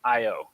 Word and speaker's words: Io: doing old macdonald but if you're thinking specifically about the character from greek mythology i think a lot of people would prefer the eo pronunciation for the astronomical object i think io is the one that a lot of american astronomers at least use when you look down